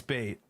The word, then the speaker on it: B8: Is it B8? Okay. It's bait. It's B8. It's the whole name is just bait, okay?